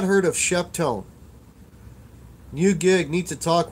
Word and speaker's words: Sheptone: If you haven't checked it, check out the website, Sheptone. It's spelled exactly the way it sounds.